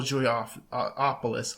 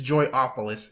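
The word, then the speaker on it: Joypolis: Southwest and at multiple Julie off opolis um I'm sorry it's joy opolis is how you say it but it was just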